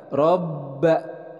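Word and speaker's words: رَبَّ: Robba. Nah, di sini ada ba bertasydid, jadi harus ada penekanan. Robba. Oke, selanjutnya hadza.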